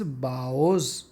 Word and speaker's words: bow: اینڈ سو, اور اس طرح سے, having made his باؤز, BOW, اگر اس کا مطلب ہو جھکنا تو اس کا تلفظ ہے باؤ.